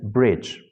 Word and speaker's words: bridge: So here you can see you want to mean bridge, but you're pronouncing it as breeze.